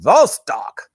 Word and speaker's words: Vostok: You can say it like a Russian accent, Vostok.